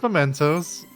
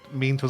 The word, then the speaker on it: Mementos: No, I remember, it's mementos. Okay. Meme toes is funny to say, though.